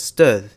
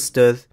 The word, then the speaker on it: stød: a phenomenon known as stød. In syllables with stød, the first part is articulated with high pitch, and the second part is pronounced with a lower pitch and has an added creaky voice.